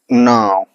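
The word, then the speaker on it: know: क्या क्नो होगा, नहीं, क्या होगा, कि हमारा क्या है, साइलेंट होगा। क्यों साइलेंट होगा, क्योंकि ये एन के पहले आया है। प्रोनाउंसिएशन रूल है कि अगर के बाद एन आ रहा है या फिर एन के पहले के आ रहा है तो हमारा के क्या होगा, साइलेंट होगा। वहां उच्चारण ध्वनि एन से स्टार्ट करेंगे, तो इसको क्या पढ़ेंगे,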